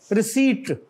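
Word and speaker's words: receipt: रिसीट, पी is silent.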